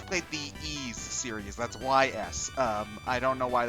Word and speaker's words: Ys: the ease series that's Ys um I don't know why they pronoun oh is that how is that is that how it's pronounced yeah it's pronounced e um they they whenever